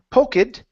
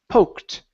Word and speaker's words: poked: So instead of saying poke it, this is poked. Poke it. Okay. Almost. Okay. So, take out that e. We don't want to say poke it. It's poked. Poked.